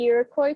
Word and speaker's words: Iroquois: this name is that it is french but you know as americans we don't pronounce it in the french way we've created our own